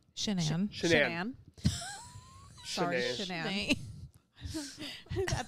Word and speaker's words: Shanann: At the time that Shanann was, it's really hard for me because it's spelled like my name, Shannon almost. So I want to say Shannon all the time.